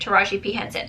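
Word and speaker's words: Taraji P. Henson: Okay, that's how you say it, Taraji P Henson.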